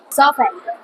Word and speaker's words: soften: Silent T pa rin yan. Soften.